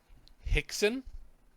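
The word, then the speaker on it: Hyyxzen: want to pronounce it Hixson h-y-y-x-z-e-n ixon we'll just call him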